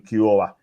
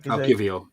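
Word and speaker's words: Kiwior: Like against Bournemouth, when Saliba got sent off, you brought on Kiora. I think it's called. I went to pronounce his name right. Kivio. Kivio, that's the way.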